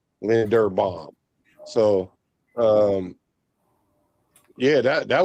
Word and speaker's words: Linderbaum: It's Linder, not Linden. Linderbaum.